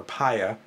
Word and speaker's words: Paya: in a rough surface pronounced pea or paya in Spain and I'm